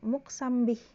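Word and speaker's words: مقسم به: adalah adat kosam lalu harus ada muksambih di sini ya muhsan Bih jangan muksim bacanya karena di situ Allah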